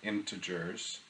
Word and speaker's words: integers: So integers, this is how you pronounce that, integers, are a special kind of number that we study in this topic.